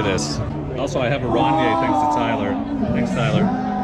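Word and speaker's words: Rainier: Also, I have a Ronier thanks to Tyler. Thanks, Tyler. Keep it classy. That's how it's pronounced. If you're not from around here. Ronier. It's French. Yeah, it's French. Ronier.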